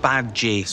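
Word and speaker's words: Badguy: under new management Dominic bad-guy pronounced babji's French French with a new mission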